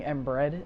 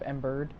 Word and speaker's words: Embered: So a lot of people started saying Embred instead of Embered, and I got annoyed of, fixing their sentences, so I just decided to switch it.